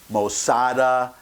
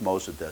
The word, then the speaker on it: Mossadegh: up the pronunciation, and I found 3 different pronunciations. Mossadegh, Mossada, Mossadi, all those were on the internet when you look up how to pronounce a particular name. So I'm going with Mossadegh, so don't beat me up if I use the pronunciation that you don't prefer.